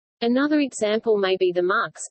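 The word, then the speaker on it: Muxe: Another example may be the Mux, pronounced Mu, found in the state of Oaxaca, in southern Mexico.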